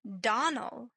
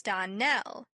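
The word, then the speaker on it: Donnell: Clarice Elmyra told me that you pronounced our name Donald. Now, Miss Shirley, the correct pronunciation of our name is Darnell. Accent on the last syllable.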